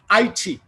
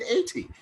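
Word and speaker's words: eighty: my professor, I mean, how do you pronounce EIGSTY? And he said 80. And then why is this man saying IT? Then he smiled and said, that's the Cockney speaking, the Cockney way of speaking.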